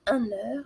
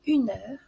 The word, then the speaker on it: une heure: avec une liaison et attention aussi à une heure on ne dit pas un heure mais une heure puisque le mot heure est féminin voyons maintenant d'autres valeurs